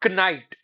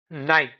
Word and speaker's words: night: The k completely disappears. It is not kite. It's night.